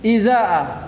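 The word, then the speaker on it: إزاء: Nah, at-tasi'u yang ke-9, izaa bi kasril hamzatil ula ma'al maddi. Izaa itu di kasrah hamzah pertamanya. Kan dua hamzahnya. Di kasrah hamzah pertama, kemudian dimatkan, baca mamdudah, mat. Izaa panjang.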